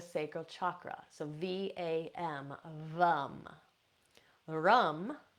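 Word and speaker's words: ram: Rum for the solar plexus, rum, R-A-M.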